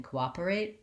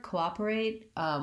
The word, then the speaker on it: cooperate: that looks like is we have the co and the american o is long in this word cooperate we still have to do the diphthong o but we don't hold it for that long because it's an unstressed syllable our stressed syllable is the op that's where our length is so we have co